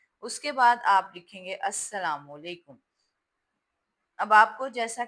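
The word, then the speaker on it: السلام: यहां पर बहुत सारे बच्चे जो हैं ये जो लाम है इसको अलिफ के बराबर नहीं लिखते और यह लाम साइलेंट है अस्सलाम में लेकिन यह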